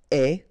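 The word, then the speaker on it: aie: And avoir will become est. Remember, the final E is not pronounced. So, you only have this A-I sound. Est.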